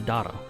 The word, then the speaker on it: Dagda: Lore-wise, he takes the name of the Celtic god Dagda, or the Dagda. I've also heard it pronounced the Dada. Who knows? I'm gonna go with Dagda, because that's how I first heard it.